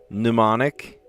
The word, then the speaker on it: mnemonic: Psych, mnemonic, knee, and gnome. Sounds the same if you drop the first letter.